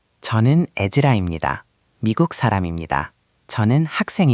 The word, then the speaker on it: 입니다: First, imnida is commonly pronounced imnida. The middle sound blends.